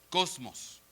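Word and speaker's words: κόσμος: la concordancia stron el la palabra griego 2889 que literalmente se se se pronuncia Cosmos entonces Juan 88:12 dice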